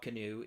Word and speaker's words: Kinew: It's not the same as the word canoe that the boat, but the paddling canoe.